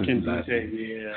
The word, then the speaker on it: Nkemdiche: Robert Nkemdiche, yeah. Robert Nkemdiche. It's just a situation where the N is silent.